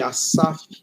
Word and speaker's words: Asaf: Esse nome, Asaf, ele é pronunciado como se tivesse 2 S's, porque vem do hebraico, e no hebraico não tem Z.